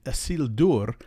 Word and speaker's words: Isildur: more important is that where you have a vowel before the R, don't let the R change the quality of the vowel. Pronounce the vowel like you normally would. And so it's Miriel and Isildur, where the E and the U keep their sounds even though they're followed by the R.